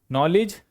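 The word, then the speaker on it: knowledge: नॉलेज नॉलेज के silent नॉलेज means ज्ञान books are a great source of नॉलेज किताबें ज्ञान का बड़ा स्त्रोत है।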